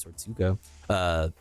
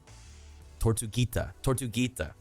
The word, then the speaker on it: Tortuguita: proposed Cop City training facility, rest in peace, Tortuga. Wait, is it Tortuga? Did I say it right? I think it's Tortuguita.